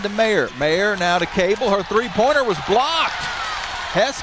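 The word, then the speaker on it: Koabel: we get a foul called against Duke Emma cable picks up the personal foul it's spelled k o a b l but pronounced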